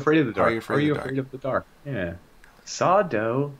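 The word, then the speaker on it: Sardo: of the dark yeah sawdo no mr accent on the dough that guy i don't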